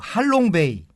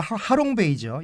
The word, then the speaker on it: 하롱베이: 역시 그 하노이에 간 모든 분들은 그 할롱베이, 우리 발음은 하롱베이죠.